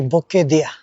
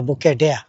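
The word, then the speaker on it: Bukedea: আর এই জায়গার নাম হচ্ছে বুকে দিয়া। বুকে দিয়া, বুকে দিয়া আর বুকে ডেয়া। লিখলে তো একরকম হয়, আর উচ্চারণ করতে আর কি ভিন্ন রকম।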